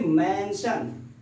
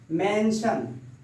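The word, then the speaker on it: mention: या double yes हो, अगर उसके बाद आई ए आता है, आई ओ एन आता है, तो उसकी प्रोनाउंसिएशन स होता है। जैसे मेंशन, मेंशन, मेंशन, सन, यह आपका होता है मेंशन, ये आपका मेंशन होता है।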